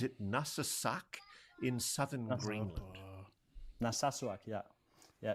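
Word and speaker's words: Narsarsuaq: Nasasuak. Yeah. Yeah. It's it's a difficult name to to pronounce, but yeah, it's Naswak.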